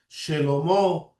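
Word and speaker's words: שְׁלֹמֹה: That's the proper way to pronounce Shemuel, Shelomo, because the shiva at the beginning of the word is a vowel, acts like a vowel. It's an e. So Shemuel, Shelomo, right?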